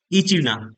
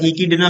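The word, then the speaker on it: echidna: Answer होगा option first इचीना। क्या बोलते हैं? इचीना। इसको बोलते हैं राइट आंसर होगा ऑप्शन फर्स्ट या इडना भी बोलते हैं इसको।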